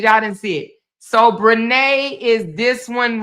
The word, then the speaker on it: Brenay: Brenay.